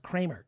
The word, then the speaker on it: Kremer: it's spelled crammer k-r-e-m-e-r i believe it's pronounced kramer because that's what he called himself and then kulap on